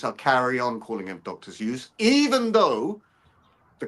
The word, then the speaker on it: Seuss: Now, because everyone calls him Dr. Seuss, I'll carry on calling him Dr. Zeus. Even though the correct pronunciation is Dr. Zo.